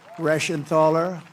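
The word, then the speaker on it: Reschenthaler: Guy Rashenthaler. That's the hardest name in the Senate to pronounce, but I've learned how to pronounce it.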